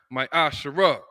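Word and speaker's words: מעשר: numbers 18:21 Malachi 38-10 means 10th and Hebrew which is pronounced my Asar 10% of every penny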